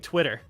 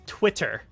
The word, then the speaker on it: Twitter: really fun fact is we don't pronounce our T's if they're in the middle of words we use D's like even we've been saying Twitter it's Twitter Twitter but like we're